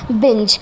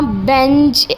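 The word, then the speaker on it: binge: तो मैं अभी आपके सामने प्रोनाउंस कर रही हूँ बिंज। हमने इसको ऐसे नहीं करना बिंज या बेंज, ऐसे नहीं हमने इसको करना, हमने करना बिंज।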